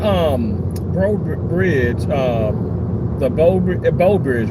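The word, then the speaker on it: Breaux Bridge: That um Bro Bridge uh the Bo Bridge, right? That's how you pronounce a bow bridge. like bow like bow and arrow but it's spelled B R E A U B.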